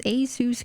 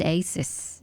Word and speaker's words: ASUS: I pronounce Asus correctly now, unlike when I was ignorant and said Asus instead.